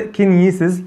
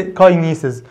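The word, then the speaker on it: kinesis: وبالمناسبة صح، هي بتنطق كينيسيز مش بتتنطق كاينيسيز. أنا أوقات بسمعها في طلبة بتقول كاينيسيز، لا الكلام ده مش مظبوط، النطق الصح ليها كينيسيز.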